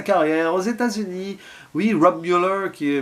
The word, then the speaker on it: Müller: Oui, Rob Müller qui est Müller, on va le prononcer quand même à à l'Allemande qui avait au hasard